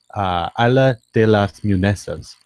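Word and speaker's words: Isla de las Muñecas: Oh, did you pull it up to pronounce it? It is Isla de las Munesas.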